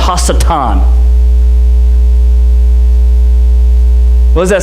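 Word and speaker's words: השטן: Adversary in Hebrew is pronounced hasatan.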